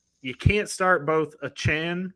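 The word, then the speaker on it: Achane: you can't start both a Chan which is what he says he wants to be called a chance I thought it was AJ well I thought so too but then he put the correct pronunciation as a Chan and Raheem moster you're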